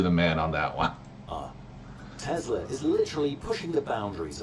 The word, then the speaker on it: Tesla: Is that what he calls Tesla? Yeah. I mean, it's someone's name. Telsa. And it was not pronounced Telsa.